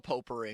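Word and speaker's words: potpourri: Oh, it's like it's spelled like pot pori except you just don't say the T.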